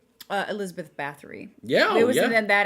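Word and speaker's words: Báthory: there also like the female vampire, like Elizabeth Bathory?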